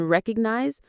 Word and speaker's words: recognize: The O in recognize is unstressed, so it's a schwa or disappears.